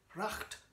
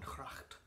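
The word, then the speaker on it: gracht: window onto Heron cracked cracked the Dutch word for canal is pronounced with a guttural H rather than a hard G but I didn't know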